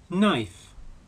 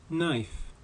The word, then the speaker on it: knife: Knife. Knife. Note that the initial K in the word knife is silent.